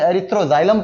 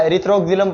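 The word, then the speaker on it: Erythroxylum: तो अब आप इसको चाहे एरथ्रोजाइलम पढ़ो या एरथ्रोजिलम पढ़ो एक ही बात है।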